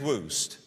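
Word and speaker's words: Wuest: Kenneth Woost, his name is spelled W-E-S-T, he's a great Greek scholar.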